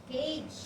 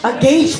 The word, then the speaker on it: gauge: Cage. Paano ba yung pronunciation yan? Gauge pala. Wow, thank you so much for the right pronunciation. Gauge.